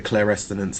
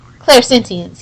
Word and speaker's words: clairsentience: I really like the way they brought back the clairescence. That's how you pronounce it, right? The what? Oh, the touching of... Yeah. Clairsentience, yeah.